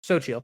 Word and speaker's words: Xochitl: Let me look at how to pronounce her name. Xochitl.